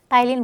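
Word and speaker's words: ptyalin: सा अमाइज बोले या आप टाइलिन बोल सकते हैं इसको कौन सा अमाइज या टाइलिन आप बोलो मैम इसको पी को क्यों इंक्लूड नहीं करें ये साइलेंट है इसमें ठीक है आपको भी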